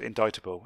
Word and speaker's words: indictable: way an indictable notice it's spelt indictable but pronounced indictable and trial either way can quite often be